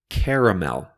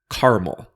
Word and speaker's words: caramel: or ingredient in candy some people say caramel with three syllables caramel but other people say caramel with just two syllables like that caramel I say it with